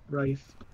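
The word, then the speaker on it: Wrife: It's pronounced Rife, oh, Aaron. Okay. W-R-I-F-E. Yeah, Rife.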